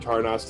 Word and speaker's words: Tarnost: there in the forest is a fortress named tarnost fortress is named tarnas and tarnas is spelled t-a-r-n-o-s-t just for you guys when you're